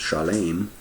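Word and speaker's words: שלם: But anyway, from right there in Psalms, we can see the Strong's lookup for that word Salem, and it is in Hebrew Shalem, pronounced Shalem, the same as Shalem, peaceful.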